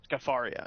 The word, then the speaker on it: Scafaria: How do you pronounce that? Scafaria.